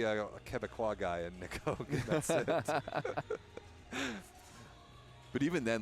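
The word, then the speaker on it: Hoag: but even then like his name in French is is it's almost it's Oak oh yeah great where is it English Hoke like you actually whereas in French you just don't really pronounce the h it's just Oak sure I didn't really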